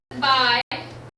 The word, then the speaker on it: bi: So we have by, we pronounce it by, means to, like with bicycle.